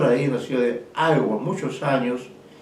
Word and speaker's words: Iowa: trabajó en la ciudad de Iowa, así se pronuncia, ¿no? Fue profesor ahí en la ciudad de Iowa muchos años y luego ya cuando, porque recuerden